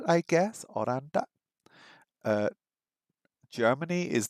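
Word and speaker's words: オランダ: think we learned was oranda which sounds like Holland I guess oranda uh Germany is not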